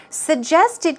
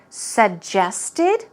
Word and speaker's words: suggested: Suggested can be pronounced 2 different ways. It can be pronounced suggested or suggested. 2 ways. Either way, you can choose whichever way you want to pronounce it.